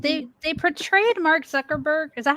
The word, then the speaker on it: Zuckerberg: I don't think like they they portrayed Mark Zuckerberg is that how you say his name yes Mark Zuckerberg the guy who can't blink um they portrayed